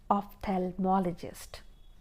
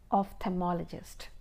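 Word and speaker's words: ophthalmologist: So in general way or in common terms we say eye specialist but the exact name of his profession is ofthalmologist again I'll pronounce it ofthmologist okay so that is a doctor who specializes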